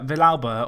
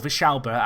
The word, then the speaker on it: Villalba: Anyway, that is everything bar the Young Player of the Year, which this year went to Villalba, or Vichalba, as I meant to say his name, but I feel